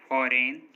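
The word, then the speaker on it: foreign: जी silent, N से पहले आया जी हमेशा साइलेंट होता है, मतलब अगर किसी वर्ड में एन से पहले जी आएगा तो जी साइलेंट होगा। जैसे डिजाइन, रिजाइन, sign, campaign, फॉरेन, नो, इन सभी वर्ड्स में देखिए एन से पहले जी आ रहा है और एन से पहले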